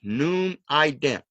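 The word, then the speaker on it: Numident: It can't be gnome, it can't be name, it can't be nim, it can't be neem, anything like that.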